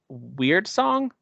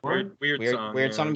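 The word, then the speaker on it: Wyrdsong: think it's pronounced we weird song right what yeah weird song yeah weird song but it's like w y not the word weird uh weird song fantasy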